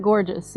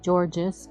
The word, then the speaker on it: Gorges: Yeah, it's actually Fort Gorges, even though it's spelled like that. You might want to say Georges, but it's not. It's Gorges.